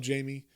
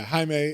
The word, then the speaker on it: Jaime: welcome to the club, Jamie, or Jaime. And then, Jamie, Jaime. Yeah, it's spelled Jamie. I just read it like that. But yeah, Jaime.